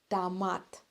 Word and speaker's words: томат: так легче томат тоже Обратите внимание что мы произносим вторую букву о в слове томат как а потому что эта буква не стоит под ударением нет рение томат и последний овощ свёкла